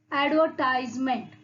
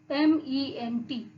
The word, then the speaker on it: advertisement: Here, ad means advertisement. See the spelling ADVERTISEMENT. Here you can see the spelling is like advertisement. Advertisement, isn't it? But how we pronounce this? We pronounce advertisement. R is silent here.